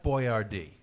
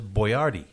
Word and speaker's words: Boyardee: his last name was Boyardee well he spelled it out phonetically so as not to freak out Middle America who wasn't used to having an Italian cooking form